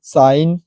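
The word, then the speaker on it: sign: है यहां पर सब एन से पहले जी आया है जी साइलेंट रहता है आप पढ़े भी होंगे डिजाइन रिजाइन साइन जो हमेशा करते हैं कैंपेन है फॉरेन है वो जो है हमारा साइलेंट ही रहता है चलिए नेक्स्ट रूल देखते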